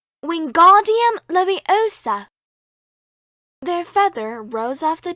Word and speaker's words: Wingardium Leviosa: "Wingardium Leviosa!" he shouted, waving his long arms like a windmill. "You're saying it wrong," Harry heard Hermione snap. "It's Wingardium Leviosa. Make the ga nice and long."